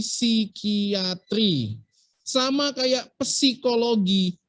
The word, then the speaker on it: psikiatri: atau bacanya nemoni sama nanti psikiatri tulisannya kan psikiatri bacanya bukan psikiatri tapi si kiatri sama kayak psikologi bacanya